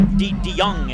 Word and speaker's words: DeJong: Yep, DeYoung is how you say it.